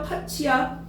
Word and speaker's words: 팥이: 그런데 파티야 파치야 파치죠. 파치 오케이 그럼 파치로 발음하는 거 맞는데 이러한 의운 변동을 뭐라 합니까?